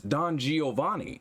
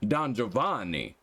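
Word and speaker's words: Giovanni: and holder of the Rainbow Badge is NOT Don Geeovanni but in fact pronounced - I just broke your world.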